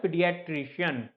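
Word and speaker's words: paediatrician: हमने कहा था भाई ध्यान दीजिए इसकी प्रोनाउंसिएशन पर, लिखते हैं इसको PAED है पर होता है पीडियाट्रिशियन। या अब वो पीडियाट्रिशियन क्या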